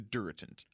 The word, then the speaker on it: DuraTent: EU RA te NT but that's not what it's called it's called the dura tent dura tint and it's it's sort of pronounced like you would like Duracell batteries yeah it clears that